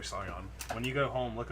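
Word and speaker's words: Sion: They created a band called Scion or Zion. I really don't know how you say it, but it's spelled S-I-O-N. Probably Scion.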